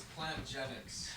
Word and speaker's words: Plantgenix: Is it genetics or genetics? It's plant genetics.